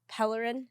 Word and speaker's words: Pellerin: I know your last name, but like, you know, the pronunciation gets pronounced. Pellerin?